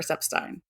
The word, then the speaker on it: Epstein: it so that's why it's important to remember seep Stein so we're going to post Ronnie's lovely didy